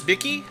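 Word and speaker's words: Bikke: Pronounce Bicky, like the like the pen. Like a Bic pen, except Bicky.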